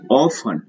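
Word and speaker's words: orphan: Now this is ऑफन, 126th word is ऑफन। यहाँ पे आर को साइलेंट किया जाता है, आर का उच्चारण नहीं होता है, तो क्या हो जाएगा ऑफन, ORPHN, ऑफन मतलब अनाथ।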